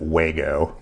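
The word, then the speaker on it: Wago: that a day again some little Vago connectors or I think a lot of people pronounce it wgo but a lot of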